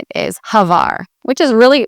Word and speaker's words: Hvar: You hardly hear the H, like Hvar. It kind of blends together almost. Instead of Hvar, you don't do the H and then Var. It's more Hvar. So together, if you can do it.